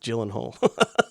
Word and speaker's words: Gyllenhaal: I don't want to create another uh Sean Crawford moment but it's pronounced Gyllenhaal.